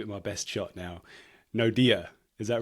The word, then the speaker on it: Naude: Okay, so I want to make sure I'm pronouncing your name correctly. I'm going to give it my best shot now. Naude, is that right?